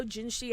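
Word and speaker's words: Jinhsi: How do I pronounce her name? Is it Jinshi? Yes. I quite like how Jinshi had like not a whole lot to do with us.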